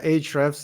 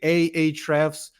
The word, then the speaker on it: Ahrefs: Yeah, Ahrefs is exactly the correct pronunciation.